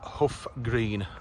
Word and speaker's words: Hough Green: Right, this is Hough Green. You can note the spelling, it's H-O-U-G-H, but you pronounce it H-U-F-F. Hough Green is how you say it.